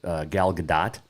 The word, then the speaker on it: Gal Gadot: i watched red notice the other day with gal gadot that is the correct pronunciation by the way um ryan reynolds the